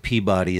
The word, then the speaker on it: Peabody: Like a suburb of Boston, and it's pronounced Peabody.